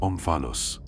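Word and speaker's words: omphalos: En Delfos, una piedra más huevo que cubo, se pronuncia onfalos, ombligo.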